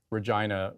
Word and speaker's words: Regina: all be adults here Regina rhymes with vagina and it's not like